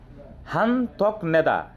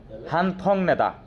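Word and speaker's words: 한턱내다: পাজিদা মানে বাদ যাওয়া হান্থকনেদা তার মানে কি টিট দেওয়া আচ্ছা এখানে না হানথক উচ্চারণটা বিজয় কি হবে বলতে পারিস হানথক নেদা হ্যাঁ উচ্চারণ উচ্চারণ উচ্চারণ করতেছি নো হানথং নেদা এখন খেয়াল করে দেখো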